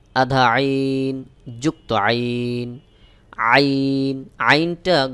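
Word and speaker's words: ع: আইন যুক্ত আইন আইন আইনটা গলার মধ্যখান থেকে একটু চাপ দিয়ে উচ্চারণ করতে হবে যেমন আইন আইন যুক্ত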